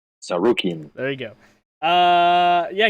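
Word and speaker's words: Tsarukyan: fight night camera versus armin you want to pronounce his last name saruki there you go uh yeah gamrat winning decision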